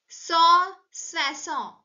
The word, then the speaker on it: soixante: And 160 is pronounced in French as swasownt.